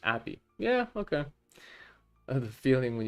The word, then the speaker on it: API: Pronounced like happy without the H. Appy.